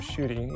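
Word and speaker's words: Ncuti: And I've already forgotten his name except for his first name, Shooty, even though it's spelled N-C-U-T-I.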